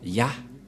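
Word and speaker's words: יה: Et ça se prononce, selon les Juifs, le premier terme que je vais mettre en bas, sa prononciation se lit I et l'autre se lit AH. Je vais expliquer simplement. Et lorsque on va regrouper à la normale, ça se transforme en Ya, que nous allons écrire ici.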